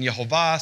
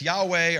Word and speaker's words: Yehovah: this because there's different opinions on how to pronounce this name. In the earliest Hebrew manuscripts that it evolves, it's written Yehovah. Some people say it's Yahweh or Yahuwah.